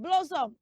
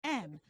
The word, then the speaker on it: Blossom: It's spelled Blossom. That name is not rightly pronounced as Blossom. Say blah. Everybody say blah. Blah. Good. Say after me. Blah. Blossom. Blossom. Blossom. Yeah, so don't say blow. It's not blow.